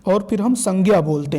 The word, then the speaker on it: संज्ञा: भी इसका उच्चारण देखेंगे, चूँकि ज्ञ एक संयुक्त अक्षर है, तो उसकी दृष्टि से अगर हम देखेंगे तो इसका जो शुद्ध उच्चारण होगा संज्ञा।